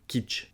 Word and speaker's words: kitsch: Alors, au niveau de la prononciation, ça se prononce comme une cuisine en anglais, kitchen, sauf qu'on va couper la fin du mot. On va juste dire kitsch.